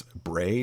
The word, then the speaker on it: Bray: So it's Bray, just like the color gray, because I think names are important.